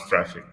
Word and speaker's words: Traefik: and so the name is just as you pronounce Traefik.